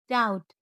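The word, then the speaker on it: doubt: बी जब एम के बाद और टी के पहले आए तो साइलेंट रहती है। जैसे बम, थंब, क्लाइम, डाउट, डेट और सेटल।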